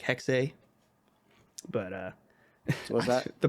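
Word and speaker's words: Hexe: like Assassin's Creed hex spelled h-e-x-e he pronounced it like hexay but uh what's that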